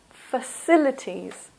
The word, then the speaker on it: facilities: singular amenity plural amenities the next one facilities for silly T's this also is a and the stress is here in the second syllable facilities so the city has